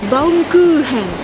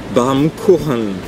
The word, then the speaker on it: Baumkuchen: B-A-U-M, normalement ça se prononce Baum. Baum. Et après le CH en allemand se prononce un peu comme un R. Donc ça fait normalement Baumkuchen.